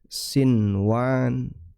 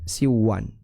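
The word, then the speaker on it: صنوان: Seperti kata sinwan. Ya, sinwan kita bacanya sinwan, bukan siwan. Ya.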